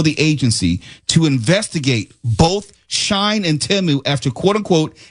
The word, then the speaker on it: Shein: We mentioned both Shine. I guess that's how they pronounce it.